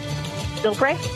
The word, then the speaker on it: Bilbray: it for a okay am I am I pronouncing your last name correctly by the way Bill bra Bill BR okay okay great I've got I've